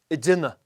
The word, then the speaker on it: ag déanamh: together - listen again The "g" is very often not pronounced. Next one. Boasting / showing off Focus on "a déana'" There is nothing wrong with "ag déanamh" but the native pronunciation